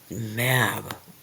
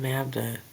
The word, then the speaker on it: Medb: Ah, Medb. Okay, is that going to be Queen Maeve?